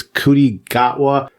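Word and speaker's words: Ncuti Gatwa: I will have to look up, because I think his name starts with an N, but I don't think you pronounce the N. I think it's Cutie Gatwa.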